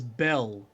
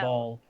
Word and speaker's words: Bel: sorry i've been mispronouncing this by the way uh it was belle who was uh cast out of avernus i've been saying ball because of the other rival yahweh god thing all right all